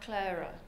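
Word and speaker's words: Qlaira: but specifically to talk about clara that's correct pronunciation it's a relatively new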